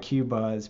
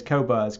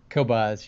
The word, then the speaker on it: Qobuz: they just refuse to change they they like cubase but i do understand that the name is kobas correct kobas yes and that doesn't bother us even in